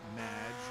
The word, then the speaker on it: Madge: have mispronounced my name it's madge which rhymes with badge uh as in duh